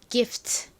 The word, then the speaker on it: gift: 않고 트 소리로 표기합니다 gift 이렇게요 발음해 볼 건데요 끝부분은 야하게 발음해 주세요 기프 트가 아니라 여기 f t 부분은 바람 빠지듯이 후 이렇게 발음해 주세요 해 볼까요 gift gift